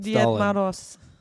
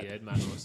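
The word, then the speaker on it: Дед Мороз: Diet Maros. That. Diet Maros, okay, all right.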